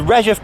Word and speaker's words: Redheugh: However, I've done my research and yeah, it's definitely the Redheugh Bridge. That's how we're pronouncing the name of this one.